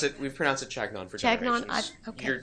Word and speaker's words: Chagnon: Well, if you're going to pronounce it the fancy French way, it would be Chagnon. Chagnon. I was going to say that, too. We pronounce it Chagnon for Chagnon, generations.